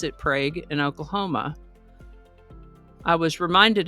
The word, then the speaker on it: Prague: That Prague is pronounced differently from the town of Prague in Oklahoma, sort of like the